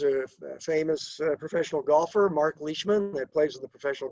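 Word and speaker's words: Leishman: Well, Leech Leechman was a Scott and uh there's a famous professional golfer, Mark Leechman, that plays on the professional golf tour. And if you called him Mark Lman, he wouldn't like that.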